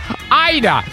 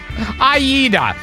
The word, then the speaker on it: Aida: my other aunt Rivka Ida Oh chop Aida I know I know it's three syllables yeah I know that